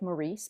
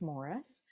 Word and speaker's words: Maurice: and her brother Morris it looks like Maurice but it's pronounced Morris they came to Canada